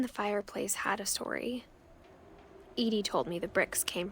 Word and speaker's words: Edie: Edie.